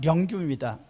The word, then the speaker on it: 령규: 그래서 발음하면 령규입니다.